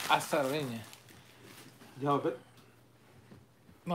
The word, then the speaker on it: Arozarena: Arozarena. Ah, Arozarena.